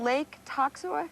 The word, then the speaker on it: Lake Toxaway: Yeah, what How do you pronounce this name? Lake Toxaway?